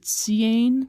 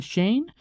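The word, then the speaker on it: Seaine: So I figure if S-E-A-N is Sean, S-E-A-I-N-E is probably Shane.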